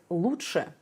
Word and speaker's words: лучше: That's interesting because despite the spelling, we pronounce this word as лучше. Лучше. It's like a flap T in English, but the tip of your tongue should be lower.